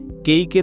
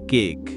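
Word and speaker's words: cake: তেমনি কেইকের উচ্চারণ হবে কেইক। নট কেক।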